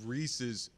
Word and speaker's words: Reese's: Well, he doesn't want us to bring up Reese's Pieces. He doesn't like pumpkins. Yeah. The fact that he calls them Reese's, he calls them Reese's Pieces. Doesn't rhyme with feces.